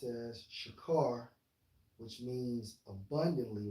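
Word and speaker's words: שָׁכַר: to it you know for drunken H 7937 pronounced as shakar which means abundantly right and according to uh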